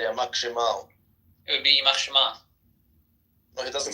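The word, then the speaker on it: ימח שמה: No, I'm talking about you did Shemo, which is the standard phrase, but that refers to male. It would be Shema if you're referring to his mother. Oh, okay. Because I'm his father. Yeah, it depends if you're male or female.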